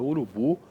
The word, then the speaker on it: urubu: Quando você pronuncia a palavra urubu, por exemplo, né, você vai ver que esta sílaba que está destacada em azul aqui, ela fica mais forte.